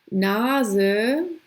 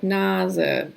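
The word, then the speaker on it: Nase: of a syllable it actually sounds like English Z it's a voice the voiced version so zu sex Naza Sieben Saarland so beginning of the world and then if it's the beginning of a syllable like Naza it also gets it yeah nas it you can tell if it's between two vowels like this it's gonna be the Z sound like that so kind of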